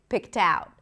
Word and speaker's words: picked out: And the word picked starts with a p sound. It has an aspirated p. So we hear a little h right after p. Then it's the last i p. And then t we want to connect the c to the t, right? Pout. And then we connect the t also to the next word because it starts with a vowel. picked out. Picked out.